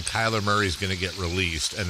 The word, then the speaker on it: Kyler Murray: Uh Kyla Murray. K. Why I say it like Kyla Murray. Kyla Murray. Uh Kyler Murray uh is going to get released.